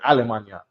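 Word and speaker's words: Allemagne: Or how do you say in French? Almana. Even though they spell it with a with a uh GN or GN A. Almana, right?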